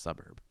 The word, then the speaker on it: SVBVRB: It's spelled with the U's are V's, so it's SVBVRB, pronounced Suburb.